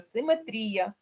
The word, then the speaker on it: симетрія: української мови академічний словник української мови нам каже симетрія симетрія запам'ятайте якщо рефлексія ні в якому випадку